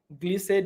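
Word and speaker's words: Glissade: 11 308 gleasade Drive I think it's pronounced glisse so it's g-l-i-s-s-a-d-e Drive is in Clinton Maryland 11 308 glise Drive Clinton Maryland all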